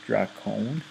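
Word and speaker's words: δράκων: It's pronounced drakon, apparently, in Greek.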